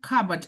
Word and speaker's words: cupboard: And the only cupboard there the first stress is uh the first syllable is stressed.